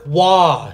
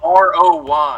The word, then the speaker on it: Roy: Patrick Roy. He's French Canadian. It's Roy. It's spelled R-O-Y. I know it is, but it's Roy.